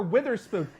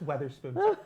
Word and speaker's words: Weatherspoon: I just learned how to pronounce I just learned how to pronounce her her her her last name an hour ago. I kept calling her Witherspoon. Honey, it's Weatherspoon.